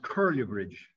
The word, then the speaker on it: Culliher Bridge: Noel Ross tells me that what is spelled Culliher Bridge is pronounced Curlew Bridge, like Curlew.